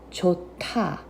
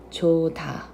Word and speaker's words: 좋다: If you read the letters by itself, it's jota. However, when it's together, you're mixing the sound of this consonant, H sound, and then sound of this consonant, D sound, and it turns into a T sound. So when you're pronouncing it together, it pronounces jota instead of jota.